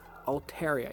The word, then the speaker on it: Altaria: not ontario Altaria Altaria it should be Altaria hmm let's just check it out real fast it's Altaria yeah it's old hariom occult